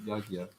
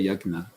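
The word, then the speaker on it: यज्ञ: This actual sound that they said is actually lost in Sanskrit.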